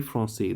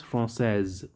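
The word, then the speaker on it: française: pronounce the s and in feminine i'll pronounce the s so that is the difference from say from says france francais francaise repeat france francais process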